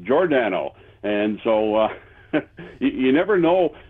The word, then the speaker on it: Giordano: When he came to the team, everybody here in the media, everybody elsewhere called him Giordano. Yes. And then we were later to find out that he pronounced it Giordano.